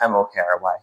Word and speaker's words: Mokry: Mockry, but Yeah. this is just Mokry. So Yeah, without the okay.